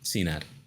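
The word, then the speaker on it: Cenat: one that's how you say his name yeah Cena that's his that's just his name this is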